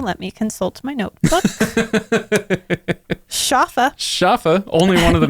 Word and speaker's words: Schaffa: me consult my notebook shafa shafa only one of the main characters good old shafa um i always want to say jaffa and i don't know if that comes from somewhere else no no you're thinking